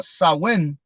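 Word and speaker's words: Samhain: times same Hain Sam Hayne uh Gaelic word pronounced uh saw when so when something like that so when all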